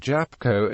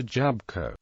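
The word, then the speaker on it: jabłko: there are certain clusters where a written consant would not be pronounced for example the L in the words Mogul and jabble Co might be omitted in ordinary speech leading to the pronunciations Mar and japco a Jabco grammar polish is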